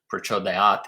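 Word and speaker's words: प्रचोदयात्: the Vedic tradition, always put a little sound after the Prachodayāt, which is like Dhiyo Prachodayāt. There's very slight variations in tone that you'll hear. So some people go Prachodayāt, but everyone that is pronouncing it in a Vedic context puts this sound after Prachodayāt, even though that's not actually part of the word.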